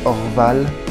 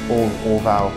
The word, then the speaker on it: Orval: It's actually pronounced Orval, by the way. Not Orval, Orval, however you want to say that.